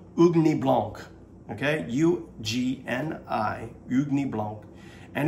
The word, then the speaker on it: Ugni Blanc: if I'm saying it right, but it's called Ugni Blanc, okay?